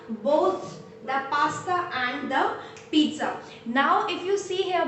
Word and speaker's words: pizza: This is not, we do not pronounce it as pizza, no, rather it has a T sound. The pronunciation is like this: pizza, pizza, pizza. There is a very subtle T sound.